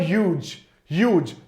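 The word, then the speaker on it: huge: दे वर ह्यूज। देखो बेटा, मैंने आपको पहले ही बताया था इसके प्रोनाउंसिएशन पर, ह्यूज नहीं बोलना है, एच को थोड़ा सा कम, ह्यूज।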